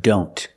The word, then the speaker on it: don't: just once or when we see the word don't a lot of times the T and don't is silent examples I don't know